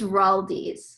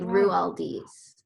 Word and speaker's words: Roualdes: she pronounces it yeah it's raldi's like rualdi's dude i would have butchered